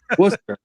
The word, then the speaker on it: Worcester: Worcester. Yeah. Bro. It is spelled like Worcester. It's Caster. Yeah.